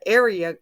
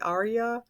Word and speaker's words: Aria: it's just on the area a r i a I think that's how you pronounce it or maybe Arya but anyway it's coming